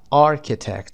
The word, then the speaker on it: architect: architect صدای ک و tect، architect معمار هست.